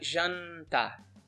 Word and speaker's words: jantar: So it's not jantar, it's more like jantar. So there's a little n at the end.